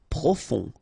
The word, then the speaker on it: profond: Profond. Final D not pronounced. O-N, on.